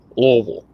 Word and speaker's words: Louisville: You have to eat the syllables. Louisville.